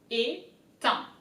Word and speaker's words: étain: So first the E as an accent, so you can see E, it's pronounced E. Étain. A-I-N is un.